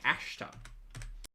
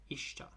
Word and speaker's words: ashta: It starts with an a, not an i. Ashta. Maybe she's maybe I'm pronouncing it wrong. Ashta. Ishta.